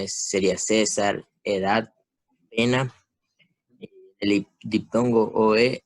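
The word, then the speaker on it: Caesar: Bueno, el diptongo AE en el español se pronuncia E. Un ejemplo sería CAE César, AETAS, PAENA, pero esas palabras no se pronuncian así. La verdadera pronunciación sería César, edad, pena.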